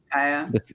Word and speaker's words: Disgaea: Disgaea.